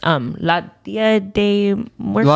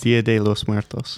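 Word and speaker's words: Día de los Muertos: I know I mispronounced it. Can you say it right, Marcus? Dia de los Muertos.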